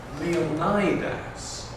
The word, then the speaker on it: Leonidas: course, an American actor, Leonidas, Richard Egan, Leonidas. So I said, be bold, go for it, pronounce him the way the modern Greeks, the contemporary Greeks, Leonidas. And, well, the rest is history, he's Leonidas.